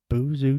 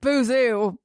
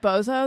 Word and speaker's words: Boozoo Chavis: Boozoo. Boozoo. But then we're like, is it spelled Bozo though? It is spelled Bozo. So we went to what's the Waterloo Records.